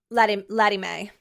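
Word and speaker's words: Lettie Mae: Laddie Mae? Laddie Mae.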